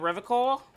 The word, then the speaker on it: Revachol: else officer you said revore I like to pronounce it the hard way the old way the vespertine way you WI at you